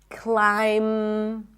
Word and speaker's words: climb: When there is MB, especially at the end of words, the B is not pronounced. So in words like limb, climb, no B, bomb, no B, crumb, plumber, comb, there is no B whatsoever.